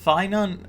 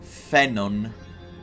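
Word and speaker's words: Phainon: from ID Alisia uh finon you pronounce it in Greek fenon that's the correct pronunciation I will keep calling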